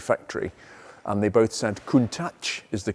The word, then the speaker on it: Countach: last few days and this is a Lamborghini Countach that is the correct way to pronounce it by the way after decades of